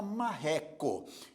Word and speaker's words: marreco: penúltima paroxítona por exemplo a palavra marreco é uma palavra paroxítona Por que paroxítona porque a sílaba mais forte é a penúltima mre portanto é uma